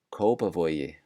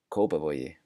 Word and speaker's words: Kópavogi: Kópavogi, Kópavogi.